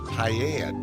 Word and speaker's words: paella: Is it National Spanish Paella Day? I think that's how that's pronounced.